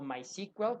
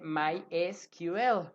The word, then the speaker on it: MySQL: de bases de datos que es my esquivel o mais igual como le quieran llamar gramatical y gramaticalmente lo correcto debería ser llamarle my esquivel no porque la s se pronuncia en inglés como es pero de cualquier manera